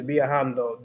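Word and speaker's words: viajando: on so traveling is biahando they're verbal so i think with that one you just have to make sure that you pronounce so v in english would be bae so biahando i guess like what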